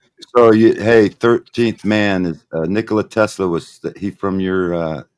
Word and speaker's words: Nikola: It's Nikola. Same. They call him Nikolai.